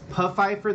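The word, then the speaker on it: Pfeiffer: and he's like um it's puff Fifer the p is not silent and then 5 seconds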